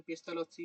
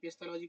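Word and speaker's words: Pestalozzi: আমি বাংলার লোক তো সেই কারণে পেস্তালসি উচ্চারণ করছি। এটা হচ্ছে লজি, তুমি পেস্তালজি করো, অসুবিধা নেই। পেস্তালসি বাংলায় বলা হয়, ঠিক আছে।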